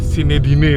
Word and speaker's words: Zinedine: Nama putranya ada Sinedine itu Pak. Iya. Bacanya gimana itu Pak? Sinedin itu sebenarnya kan bahasa umumnya kalau di kita Zainuddin sebenarnya.